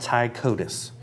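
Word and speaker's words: Ptychodus: teeth are teeth and they're called ty CODIS all right fine all right I'll buy that one but it's spelled PTY No all right got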